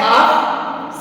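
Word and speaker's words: half: L silent होता है अगर ए ओ यू के बाद एल आता है तो वो वहां पर साइलेंट होगा जैसे सी ए एल एफ काफ एच ए एल एफ हाफ सी एच ए एल A Chowk Y ए एल के या पी ए एल M palm तो आपने इसमें देखा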